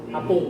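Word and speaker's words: 八分: Nah, ini cara bacanya agak spesial juga ya. Jadi hapung ya, sama juga 1 menit 6 menit sedikit tarik ya, cara bacanya hapung.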